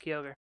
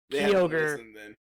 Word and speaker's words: Kyogre: backup currently is kyogre i got called out for how i pronounced kyogre why apparently i they had never heard me pre anyone pronounced yogurt instead of kyogre it's like everyone's like kyogre i'm like there's no a in there i flip